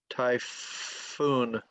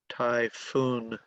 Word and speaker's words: typhoon: how to spell it t-y-p-h-o-o-n and you know english is crazy so you pronounce ph like f typhoon typhoon typhoon two syllables accent on the second syllable typhoon here we go